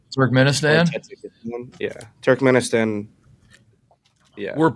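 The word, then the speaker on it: Turkmenistan: That's the correct pronunciations. Turk Ministan. Turk Turk Menistan.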